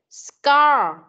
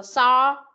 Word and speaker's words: score: Nè, chữ S đứng trước, sau đó tới chữ C, chữ O, chữ R, E này thì cong lưỡi lên. Còn C với O thì đọc là core. Thêm chữ C đằng trước con đọc là score.